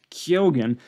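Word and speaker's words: Keoghan: batches of initial blending Brandon Gleason and Barry kyogen and I learned that that's how you pronounce his name both of them were just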